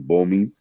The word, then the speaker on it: Bomi: My name again is Bomi.